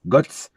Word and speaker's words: Godts: Je pense que c'est Götze que ça se dit. Hein. Götze, G-O-D-T-S, Götze.